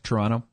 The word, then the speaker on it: Toronto: It's like Torontonians don't pronounce the second T, right? Toronto.